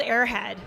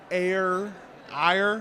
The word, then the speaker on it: Aer Head: of our comics here and how do you pronounce this name it's called airhead airhead okay yes I would that was my